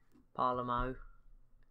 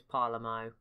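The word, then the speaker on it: Palermo: quiet to be fair parla mo there you go I said it right and I said it wrong a few episodes ago so there you go it is parlor mo which I believe is pretty accurate if I'm not mistaken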